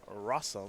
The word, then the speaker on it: Rosum: That is Collins Mullen, who is ahead right now over Jonathan Rosum, which of course rhymes with awesome.